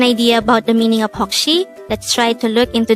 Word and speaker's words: 혹시: daihango word number 135 hokshi this is pronounced as a two-syllable word the first syllable is hok the second syllable is she pronounce it with me